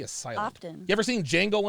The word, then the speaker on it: Django: often you ever seen django unchained yeah the d is silent like a jimbei oh